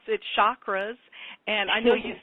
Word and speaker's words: chakra: The real pronunciation is cha for the CH. Cha is in church, just like we would normally do a CH. And the A sound is an like a U, like an So the really right way to say it, if you get very, very technical with the Sanskrit, is chakra.